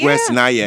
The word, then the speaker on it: West Nyack: Yeah, it's West Nyack.